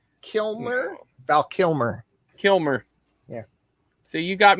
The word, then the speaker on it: Kilmer: watch it now are you saying kimner val kilner kilner val kilmer kilmer yeah so you got me earlier on the pronunciation of uh griffin and when it was